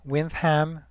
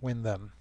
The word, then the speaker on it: Windham: now stay tuned for the big reveal why wiam is pronounced as such and not wind them